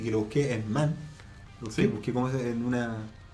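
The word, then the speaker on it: Manne: Si dice Kate Mann, Sí. qué ironía del destino, weón, que una filósofa feminista se pronuncie ese apellido.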